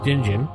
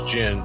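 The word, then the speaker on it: djinn: Jin whatever or Jin the D might be silent I believe it's Jin it I guess it's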